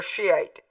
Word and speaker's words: Shiite: Yes, Iran is Shia, or Shiite. Take your pick, same song, two pronunciations, same word, same beliefs.